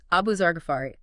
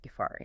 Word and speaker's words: Abu Dhar al-Ghifari: It's Abu Zarafari. The Gafari part you don't stress or double the F sound. So, a soft F. Gafari.